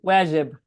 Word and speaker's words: Wajib: Is that how you pronounce it? Wajib? Wajib.